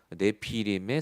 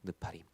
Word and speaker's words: 네피림: 네피림의 사건. 나팔이라는 동사가 명사화됐다. 네피림, 우리 한국말로 하면 네피림이지만 정확한 히브리어 발음은 느파림입니다. 느파림.